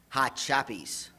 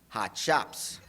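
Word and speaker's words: Hot Shoppes: And second, they were pronounced hot shops.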